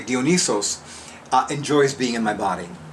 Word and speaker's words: Dionysos: Well, clearly, I've also come to realize that I'm going to pronounce it the Greek way, Dionysos enjoys being in my body.